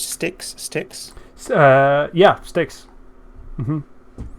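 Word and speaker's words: Styx: now reading about uh this how do you pronounce sticks sticks uh yeah sticks it's the yeah it's the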